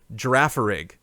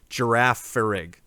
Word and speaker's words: Girafarig: I think was the girafarig girafarig it's giraffe in both directions is giraffe and then giraffe back